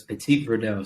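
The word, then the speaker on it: Petit Verdot: up okay whenever you pronounce it so it's Petit Verdo so you don't pronounce the first half of anything unlike unlike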